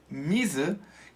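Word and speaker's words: 水: Mizu. Almost like zoo.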